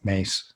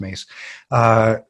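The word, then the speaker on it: Myss: here's Carolyn Mies again mace her name's pronounced mace who had we've seen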